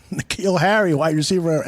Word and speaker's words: Nikhil: 49ers Nikhil Harry and is that pronounced in the keel like nickel Nikhil Harry why you see